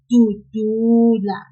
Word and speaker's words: dudula: For the verb dudula, which has 3 syllables and means to push in isiNgisi. In that one, we will pull the second du, just a little, like this, dudula.